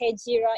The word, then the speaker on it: Hejira: Hejira is Hegira. It's spelled like Hegira but pronounced Hejira.